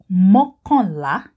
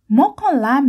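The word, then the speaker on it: mọ́kànlá: Okay, 11 in Yoruba is mokonla. Mokonla. Mokonla means one more than 10.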